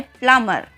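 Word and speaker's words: plumber: कई बार आपने सुना होगा कि कई लोग प्लम्बर साउंड करते हैं, प्लम्बर, बट ये रॉन्ग होता है। इसकी रॉन्ग प्रोनाउंसिएशन होती है। इसकी सही प्रोनाउंसिएशन होती है प्लम्बर।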